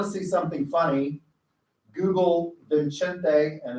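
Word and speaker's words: Vicente: if you want to see something funny, Google Vincente, and it's spelled Vincent, but it's pronounced Vincente in Spanish, Fox on Donald Trump and the border wall.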